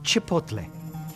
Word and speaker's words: Chipotle: it's pronounced Chipotle Chipotle no no Chipotle UT Chipotle watch my lips people Chipotle the Chipotle